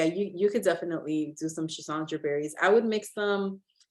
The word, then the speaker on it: Schisandra: Sisandry berries. Oh, Schisandra berries?